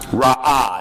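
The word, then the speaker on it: רעה: Now, the Hebrew word translated as wickedness in verse 5 and pronounced ra'ah in the Hebrew, it's pretty straightforward.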